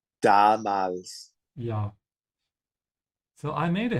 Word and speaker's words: Damals: Yeah, be careful with the pronunciation of the A. The first one should be longer. Damals. Damals.